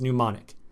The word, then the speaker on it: mnemonic: in o n IC that means or it's pronounced mnemonic and a mnemonic essentially is a series of